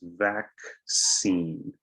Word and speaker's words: vaccine: okay thirdly we have the word vaccine so in this one you have a double c and here you have to pronounce the c two times vaccine it's interesting that the two cs make different sounds so repeat after me